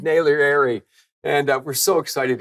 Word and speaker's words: Naglieri: my name properly but I have nailed his name and it's David Naylor Airy and uh we're so